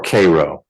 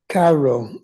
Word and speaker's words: Cairo: so are you at do you pronounce it Cairo or Koo I pronounce it Cairo okay I do too like the capital of Egypt but some in our state here say Koo but it's your street